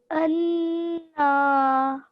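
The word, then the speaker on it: أنا: So I would say anna. أَنَّا.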